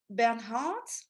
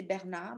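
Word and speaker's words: Bernhardt: last one is Sarah Bernhard so I know in English you say Bernhard but in French we say Berna because we don't pronounce the h Sarah bernna so Sarah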